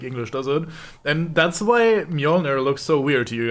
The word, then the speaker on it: Mjolnir: the j is pronounced as a soft sound instead of like with a d in front of it like english doesn't and that's why mjolnir looks so weird to